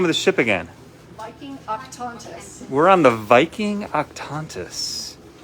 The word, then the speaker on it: Viking Octantis: Can you pronounce the name of the ship again? Viking Octantis.